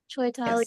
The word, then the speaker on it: Chaitali: Is that how you pronounce Mhm. it? Chaitali Yes.